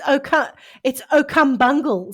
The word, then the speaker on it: O'Cumbungle: No, man, it's O'Cumbungle. Say it right.